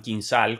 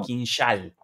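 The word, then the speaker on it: Kinzhal: h a l y ellos no lo llaman kinal como lo llamaríamos nosotros, sino que lo llaman quinsal a la zh como una sh o como un una cosa así.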